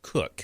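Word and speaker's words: Koch: I met with a with Eric I want to call it KO. It's spelled like the COS. K O C H, but he calls it's Eric Cook is how you pronounce it.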